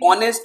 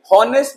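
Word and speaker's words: honest: जी हां प्यारे बच्चों एच यहां साइलेंट है साउंड को पकड़िए होनेस्ट नहीं होता है होनेस्ट नहीं बोल रहा हूं मैं बोल रहा हूं ऑनेस्ट ऑनेस्ट तो साउंड क्या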